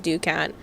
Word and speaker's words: ducat: While the modern pronunciation is ducket, the original pronunciation is ducat. So technically your original pronunciation is closer uh to correct for the original Latin and French use.